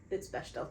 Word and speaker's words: Bechdel: Bechdel test.